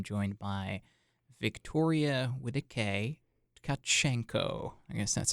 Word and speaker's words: Tcachenco: of 10 okay how about you try to pronounce your last name okay so it's kachenko okay kachenko yeah that was better that was